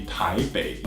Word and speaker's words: Taipei: be Taipei it's actually tae Baek you know where the B is the P so it's just the